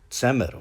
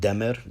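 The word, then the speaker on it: ጸምር: And so moving on from that, we get the word tsemer, which means wool. And others might want to argue it's pronounced demer, like the Arabic dad.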